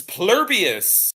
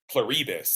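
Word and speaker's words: Pluribus: This is Plurbus, uh the new show by Vince Gilligan. Pluribbus. I didn't catch I did not pick up on how that's how you say it.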